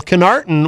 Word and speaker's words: Connarton: That doesn't sound as strange to me as you might think, because in high school, Connarton was my nickname.